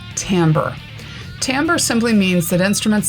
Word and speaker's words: timbre: and i know it looks like the word timbre or timbre but it's pronounced timbre timbre simply means that instruments sound different from